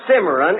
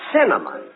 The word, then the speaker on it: cinnamon: pronounce it can you look it isn't simmeron it's cinnamon now let me ask you